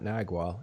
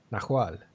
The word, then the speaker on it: Nahual: It's not Nagual, it's Nahual with an H. That's how you pronounce it, and it's Mexican shapeshifter, I think, or Mesoamerican.